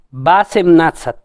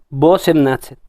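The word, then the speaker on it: восемнадцать: Entonces, en teoría, su pronunciación debería ser Basemnatsat, porque la O no está acentuada. Y digo en teoría porque realmente nadie pronuncia de esta manera. Todos pronuncian Bosemnatsat.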